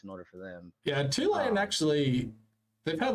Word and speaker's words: Tulane: because I I mean Tulane also rhymes with two lame I barely know anything